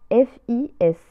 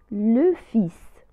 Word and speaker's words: fils: في كلمة le fils لا تنطق لا lettre L، ننطق فقط FIS، le fils.